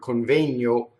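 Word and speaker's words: convegno: You see, so everything in that word coŋvegno is closed. It's O, A, O, all closed, right?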